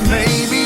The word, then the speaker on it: Mae: her there as well may is spelled m-a-e may estes my good friend